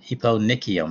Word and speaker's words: eponychium: It's an EPO, you know, eponychium, that's how they pronounce that.